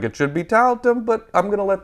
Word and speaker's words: Tiletum: Board and Dice is also releasing Tiletum, and that's how you say it, because in my head I was saying Tiletum all the time. Tiletum. Do you want to play Tiletum? It's Tiletum. Tiletum.